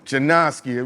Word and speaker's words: Jennaske: Mm- Janoski.